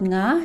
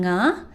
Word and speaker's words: nga: And the sound it represent is the "ng" in "nga", the same "ng" sound you hear from the English words "sing", "bring", and "long". One thing to remember is